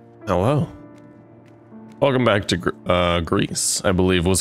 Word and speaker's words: Gris: in spanish and then i think gree is the friend's pronunciation which also means gray but the s is silent from what i remember